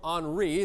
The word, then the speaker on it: Henri: And then we also have in the Atlantic Tropical Storm Henri. That's how we pronounce that one. Looks like Henry, but it's Henri.